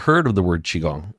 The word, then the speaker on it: qigong: call our studio and they can't pronounce the word chi and they'll say yes I'm inquiring about that que gong class who's que and